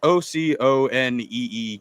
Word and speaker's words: Oconee: And the first thing that popped up was, I think it's I forgot how to pronounce it. I think it's a Oconee or something like that. It's Oconee County.